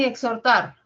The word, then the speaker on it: exhortar: suena s la siguiente en exhortar la H no suena la x pasa con